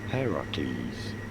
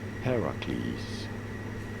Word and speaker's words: Heracles: Heracles. You do want to stress on the first syllable, the H syllable. Heracles.